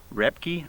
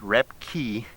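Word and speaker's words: Röpke: way to spell Alan rep key on o e b ke BISM boy in german the OA silence so it's ro e be ke but it's pronounced rep ki and so you have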